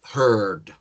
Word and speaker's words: heard: Pero la D tiene que sonar, ¿no? Que en español hay palabras que terminan con algo que no pronunciamos y está bien. Pero se pronuncia heard y es el mismo verbo con una D al final y ya está.